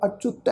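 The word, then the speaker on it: ਅਚੁਤ: साध संगत ये पाठ है जी चच्चे पैर औंकड़ दे नाल अच्युत है।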